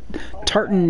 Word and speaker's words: Tartan: to miss Mel but uh how do you pronounce the first part of your name is it TARTA oh uh Tartan ninja Tartan yep okay it um it stems